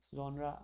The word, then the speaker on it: genre: to pronounce it as honor but it's not his owner genre that's how the French pronounce it foreign let's see I